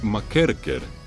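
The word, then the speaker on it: McKerchar: trabajaba un entrenador llamado tom y michael jr o como lo pronuncian los escoceses tome macair care el entrenaba al equipo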